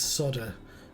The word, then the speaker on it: solder: They don't pronounce the L in the word solder. It's solder.